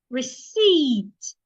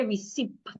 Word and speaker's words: receipt: Receipt. The P is silent as well. Don't say receipt. The P is silent. Say receipt.